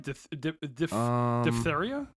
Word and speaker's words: diphtheria: No, it's diphtheria. Diphtheria. Yeah, the diphtheria. Yeah. The PHTH is weird because it's two soft sounds right one after the other, and it's hard to pronounce.